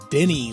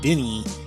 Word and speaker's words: Dini: Now, I need to correct something real quick, and that is that Steve doesn't pronounce his last name Dini like I do, D-I-N-I, Dini. He pronounces it Dini.